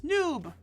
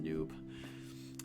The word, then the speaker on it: nub: Uh, because actually the word for Nubia comes from the ancient Egyptian word for gold, which is noob. Noob. It's technically spelled nub, but it's noob, pronounced noob.